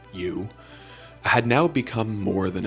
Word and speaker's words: EU: James' AI, which was named U, spelled EU, but pronounced U, had now become more than a chatbot.